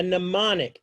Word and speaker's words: mnemonic: All right, a mnemonic, MN with a silent M.